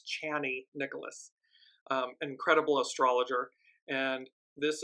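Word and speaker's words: Chani Nicholas: is from channy Nicholas I I apologize I've been saying her name wrong it's channy Nicholas um incredible astrologer and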